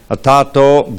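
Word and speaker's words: अथातो: ATH and ATO combined becomes atato.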